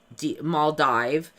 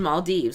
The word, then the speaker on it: Maldives: saying ah everybody used to call it Mal Mal dive uh but I don't know what did we all learn wrong but then if you look at the official way to pronounce it it's always been Maldives like all the official ones say this is